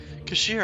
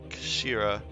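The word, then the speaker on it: 頭: It's written as head in Japanese, but it's pronounced as Kashira, I believe. Kashira.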